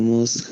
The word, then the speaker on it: must: Al must pronunciamos de más hacia A, ¿no?